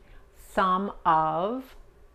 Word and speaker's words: some: Some, la A pero relajada, la O se pronuncia como la A pero relajada, some of Views, the views, okay?